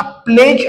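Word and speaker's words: pledge: example आहे प्लेज आता प्लेज हा शब्द वाचन करत असताना प्ले ज अशा प्रकारे वाचन करायच आहे आणि हा मधला जोडी आहे हा सायलेंट ठेवायचा आहे लक्षात घ्या प्लेड ज असं वाचायचं नाहीये प्लेज अशा प्रकारे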